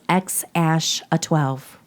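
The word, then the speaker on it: X Æ A-12: And it's pronounced X ash a 12.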